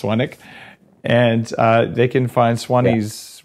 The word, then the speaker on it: Swanwick: Swanwick, pronounced Swanwick.